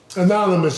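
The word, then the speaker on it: AnonameUs: Anonymous is spelled A no name us. Capital A, lowercase NONAME, capital U, lowercase s. Anonymous. But that's how it's pronounced. It's A no name us, but it's pronounced anonymous.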